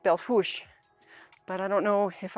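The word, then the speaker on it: Belle Fourche: head on back to what is spelled belt for shea but apparently pronounced belfous but i don't know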